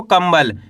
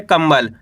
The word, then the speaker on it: कंबल: अब दोस्तों इस शब्द के अंदर अपन आधा मा का उच्चारण करा है। कैसे पढ़ा इसको? कंबल। यानी कि इस तरीके से पढ़ा है कंबल।